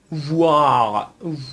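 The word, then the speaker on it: voir: ب زیبا هست اما ترکیب چهارم او و ای هست او و ای اینو به صورت اووا تلفظ می‌کنن در زبان فرانسوی خب همونطور که مشاهده می‌فرمایید مثل واغ واغ به معنی دیدن هست واغ به معنی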